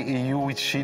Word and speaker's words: Eeyou Istchee: Merci de nous accueillir dans ce magnifique coin de pays, Eyu Ichi de Bay James. Maintenant, c'est comme ça que ça se prononce, hein? Oui, c'est comme ça, Eyu Ichi Bay James.